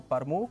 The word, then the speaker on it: Parmú: En Facebook, Parmu nada más. Ah, con acento en la U.